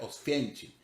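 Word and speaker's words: Oświęcim: es un nombre alemán en polaco se pronuncia ostencing entonces pues ese es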